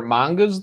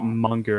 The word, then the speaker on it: manga: convention no were there mangas there no not at all okay pronounce it monger it ain't right they put an A in there dude it is manga get over it it should be manga cuz there's a name